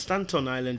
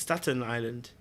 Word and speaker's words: Staten Island: I thought it was Stanton Island. It's not Stanton Island. It's Staten Island.